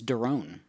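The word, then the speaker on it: Doron: kilo one delta bravo charlie my name is darone that's spelled phonetically delta oscar romeo oscar november i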